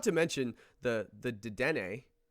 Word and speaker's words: Dedenne: If you look at the katakana of the name, it says de-de-ne. So you have to pronounce it because there is a character for n. So if it was supposed to be deden, it would be de-de-n, deden.